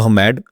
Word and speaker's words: Ahmad: मेरा हैंडल है अहमद 1111, अहमद with N AD नॉट ED। Usually लोग ED करते हैं, तो उसको मैं ऐसे प्रोनाउंस करते हैं, अहमद 1111।